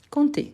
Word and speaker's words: compter: on a le verbe compter compter on ne prononce pas le P compter parfait parfait c'est